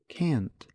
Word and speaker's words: can't: cannot teach however in fast speech many Americans reduce cannot - can't now listen to Pete use the short form of cannot can't no I can't